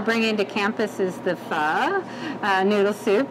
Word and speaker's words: pho: to campus is the pho noodle soup and so that's how you say it with a little bit of a lift on the end and it's a gluten-free